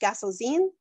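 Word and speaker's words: Gasozein: And there, Guinevere and Lancelot are not having an affair, but another knight, who I believe his name is pronounced Gasselzine, comes and claims that it is him that Guinevere loves and not Arthur.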